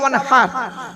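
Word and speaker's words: وانحر: ইন্না আতাইনাকাল কাউসার ফাসাল্লি লিরাব্বিকা ওয়ানহার, ফাসাল্লি লিরাব্বিকা ওয়ানহার। এই গলার ভেতর থেকে হেটা উচ্চারণ করবেন, ওয়ানহার, ওয়ানহার, ওয়ানহার নয়, ওয়ানহার, ফাসাল্লি লিরাব্বিকা ওয়ানহার।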